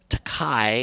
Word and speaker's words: Takei: of Pronunciation is, but George Takai is how many people pronounce it. George Takai, right? So there's 2 ways of pronouncing it, but he pronounces it Takei. I hope I'm right when I say that.